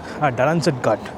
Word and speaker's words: Dalanzadgad: specific location known as Dalanzadgad. And right now, that is exactly where we are. I'm not sure if I'm mispronouncing the name, yes, it's Dalanzadgad.